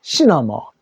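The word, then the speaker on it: cinema: 시네마가 영화관입니다. 시네마. 영어로는 시너머.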